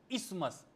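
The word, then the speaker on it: isthmus: कहते हैं हम लोग इस्मस। इसका स्पेलिंग है आई एस टी एच एम यू एस इस्थमस। ठीक है? लेकिन बोलते हैं इसको इस्मस।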